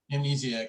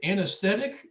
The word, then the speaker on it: amnesiac: to say it because i remember i said it wrong in that episode yeah good times i was like anesthetic anesthesiologist something like that but you mentioned that